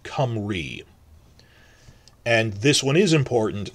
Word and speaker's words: Cymru: There's a Y between two consonants, so that's as it's come, and RU, if it's a U at the end of a word, it's double E, so it's pronounced Cymru.